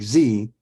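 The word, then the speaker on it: ze: hear food because Z was hungry Z is pronounced like Z and can also be spelled z-i-e or XE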